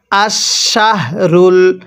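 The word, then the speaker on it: الشهر: পড়লে পড়াগুলো সহি শুদ্ধ হবে না কিভাবে পড়ব আশশাহরুল হারামু এটাকে হারা পড়া যাবে না র আলিফ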